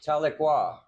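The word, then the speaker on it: Tahlequah: No, no, Talqua. It's It's pronounced Talequa.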